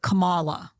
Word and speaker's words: Kamala: ways I remember her putting the emphasis on the second syllable so it was like Kamala Kamala Kamala was how